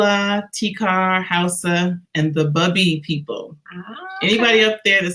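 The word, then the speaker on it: Bubi: buccal Island cool uh t-carr house' and the bubby people anyway up that says booby year incorrect I was not gonna be anybody I guess you never told me that yes bubby that's how you pronounce it okay I've been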